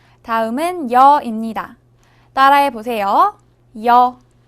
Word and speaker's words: 여: 여. 여는 먼저 이를 소리 내다가 바로 이어서 어를 소리 내며 발음합니다. 이와 어를 순서대로 빠르게 말해요.